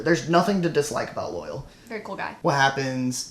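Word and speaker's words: Loial: His name's Loyal. But it's spelled with an I.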